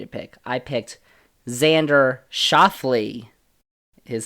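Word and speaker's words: Schauffele: pick I picked Xander shafley his name is shafley not shaffle that I was saying shaffle he finished third how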